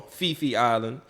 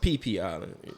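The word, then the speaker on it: Phi Phi Island: just like you got what we call Fifi Island, but it's really pronounced PP Island. It's yeah. Oh, really? Yeah, it's PP Island. That's the way the Thailand local people pronounce it.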